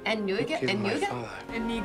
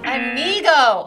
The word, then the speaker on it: Inigo: Inigo. Inigo!